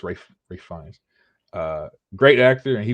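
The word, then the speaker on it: Ralph Fiennes: I used to think his name was Ralph Ralph Fian. I thought his name was Ralph Fian. Um apparently it's Rafe Rafe Fines.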